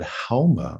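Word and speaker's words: Haoma: and they also had Hauma, which was fascinating because in Farsi you don't pronounce the S, you pronounce it like an H.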